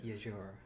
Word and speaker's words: Yuzuru: It's a y sound, not a j sound. Yeah. I guess it's Yajura.